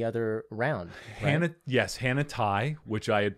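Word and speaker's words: Tighe: who won the other round hannah yes hannah tai which i had pronounced her name incorrectly 75 of the show yeah and then she went in because i called her hannah teague it's spelled t-i-g-h-e well you know we all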